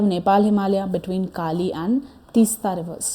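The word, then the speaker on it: Teesta: Actually तीस्ता ही बोलते हैं, बट the spellings are different, but वही सेम चीज़ ही है।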